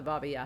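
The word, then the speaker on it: Baba Yaga: Ukraine we asked him about the Baba yeah he told us that that's how it's actually pronounced and he said that to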